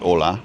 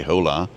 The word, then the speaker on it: hola: ha a y cuz you don't pronounce the h in Spanish either like Ola you don't say hola um I is there